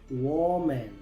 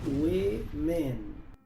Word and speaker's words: woman: Muchos pronuncian esta palabra woman. Pero aquí la o se pronuncia e, la e también se pronuncia e, así que esta palabra se pronuncia w men.